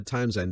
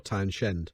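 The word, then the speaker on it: Townsend: I've got no idea whether Town end is pronounced like that or town shend I'm pretty sure it's Town end H we're now roughly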